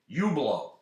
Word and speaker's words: Hublot: I like the name Hublot, but let's not just spell it Hublot. Let's put some sort of foreign language kind of spelling on it to make it fancy. But it'll still say Hublot.